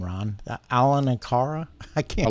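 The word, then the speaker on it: Aulonocara: How do you pronounce that name, Ron? Alanakara? I can't. Alanakara. Alanakara.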